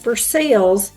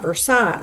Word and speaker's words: Versailles: But getting back to our travel here in Versailles and it, as I said, it is pronounced Versailles here in Kentucky and not Versailles.